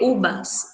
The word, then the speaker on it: uvas: E las uvas, se escreve uvas, se lê ubas, né?